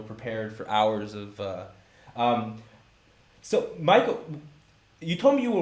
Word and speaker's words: Maaike: to understand my name, Maaike, which is spelled M-A-A-I-K-E, I actually have to write it as M-I-C-A for the American assistant in order to make sense of it and interpret it as Maaike.